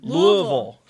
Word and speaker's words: Louisville: Louisville. That's the way it's pronounced to the locals.